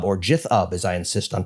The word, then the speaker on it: GitHub: There's Xbox, there's Azure, there's LinkedIn, there's GitHub or Jithub as I insist on pronouncing it.